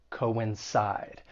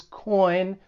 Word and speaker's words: coincide: For pronunciation, the verb has three syllables. The stress is on that third syllable. Coincide. And just keep in mind the co o i n. It's not pronounced as coin. Two different syllables.